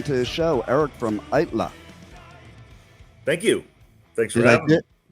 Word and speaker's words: Aittala: Yeah, you pronounce it right. It's Aittala. I know it is difficult. It's Finnish, and so people in America really don't get it.